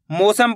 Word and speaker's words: मौसम: ऐसे नहीं पढ़ना। मौसम मौसम पढ़ोगे तो ओ की मात्रा का उच्चारण हो जाएगा। कैसे पढ़ेंगे? मौसम। औ करके उच्चारण निकालेंगे।